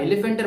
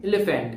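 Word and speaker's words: elephant: কিন্তু কোন এফ নাই এলিফ্যান্টের বানানে কিন্তু কোন এফ নাই তবে পি এইচ এর উচ্চারণটা এফ এর মত হবে এলিফ্যান্ট এলিফ্যান্ট তাহলে আমরা এই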